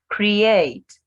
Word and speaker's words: create: Create. Create. Two syllables.